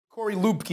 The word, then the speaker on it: Corey Luebke: corey lubke is that how you pronounce his name padre's page it is you